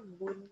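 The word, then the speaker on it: بٌ: Bacanya kalau domah itu u, kalau domatain itu un. Berarti nanti ini dibacanya bun, karena ini huruf hijaiyah, Pak.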